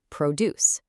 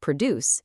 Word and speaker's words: produce: When it's a noun, you absolutely must stress the first syllable, produce. If you stress the second syllable, produce, it becomes a verb, and the examiner will immediately dock you points.